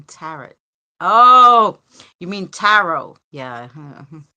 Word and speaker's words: tarot: The T is silent in tarot.